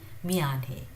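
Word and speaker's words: 미안해: So it's neither Mianhe nor Bianhe. It's somewhere in between. Biane.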